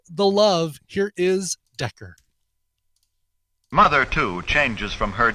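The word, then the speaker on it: Dekker: cool so back in november uh artist named decker d-e-k-k-e-r spelled like desmond decker or dawkin if you like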